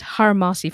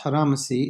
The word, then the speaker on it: Haramacy: to compile the book and like what is hermasi festival for the listeners as well sure so uh it's it's pronounced haramacy and it's um It's a combination well it's